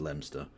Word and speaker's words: Leominster: The largest town in her fucking constituency is Leominster, which I know is spelt Leominster, but it's pronounced Leominster. Which is like, I've been to Leominster.